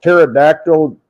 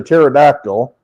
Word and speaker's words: pterodactyl: you can't hear a pterodactyl relieve itself or go to the bathroom why can't you hear the pterodactyl when it goes to the bathroom why don't you hear it because the p is silent oh no yeah I